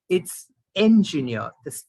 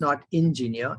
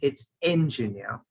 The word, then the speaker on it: engineer: It's engineer. The E has to be pronounced E-N and not I-N. It's not engineer, it's engineer.